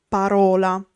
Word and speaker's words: parola: A word is piana or parossitona when the accent is on the penultimate syllable. For example, parola, word.